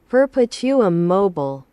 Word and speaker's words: Perpetuum mobile: Perpetuum mobile. 네, 퍼페티우엄 모빌레이, 영어로는 모빌레이.